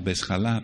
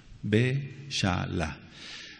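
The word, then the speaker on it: Beshalach: se llama balá vesala algunos la han pronunciado como besala pero no es balá be shala b grande e de Ernesto C de casa H de casa pero en inglés J a L A balá sí Amén y significa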